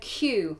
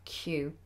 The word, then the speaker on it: queue: um Q very easy it's a very funny word because it looks like it must be much more difficult to pronounce but it's very simple Q okay um Fernando says